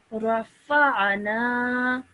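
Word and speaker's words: رفعنا: Try to make that ayn sound a bit more from deeper within your throat. Okay. Rafa'na. Rafa'na. Much better, okay? But make sure you pronounce that ayn sound from your throat, okay?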